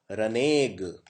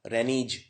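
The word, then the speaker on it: renegade: है रने ग इसको इसका उच्चारण करना बहुत डिफिकल्ट है इसको ऐसे बोलते हैं रने ग अगर कोई पहली बार पढ़ेगा तो इसे ऐसे पढ़ेगा रेनीज कोई पड़ेगा रेनेग्ड रने मतलब क्या होता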